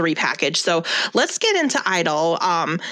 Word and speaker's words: (G)I-DLE: get into idol um stylized uh parentheses g idol g is silent if i start saying g idle i'm not saying because i'm like i'm trying to be wrong but it's that's what it looks like so apologies and i'm